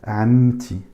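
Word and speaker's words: عمتي: Ou amti. Amti. Le A chapeau, je la prononce ça.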